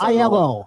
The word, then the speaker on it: Aiello: Just say it fast. Aiello.